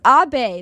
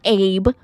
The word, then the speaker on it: Abe: AB it's a it's AB that's how you say his name it's not Abe it's not Abe it's AB that's how you say it I I would no